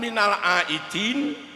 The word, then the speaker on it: minal aidin: Sering mengucapkan minal aidin wal faizin. Pastikan huruf pertamanya adalah dal, minal aidin. Yang kedua adalah zai, wal faizin.